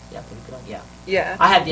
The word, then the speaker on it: Prohibido: pronounced. Yeah, Prohibido.